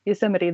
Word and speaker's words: Yosemite: they'll be like, oh, Yosemite, and I'm like, Yosemite.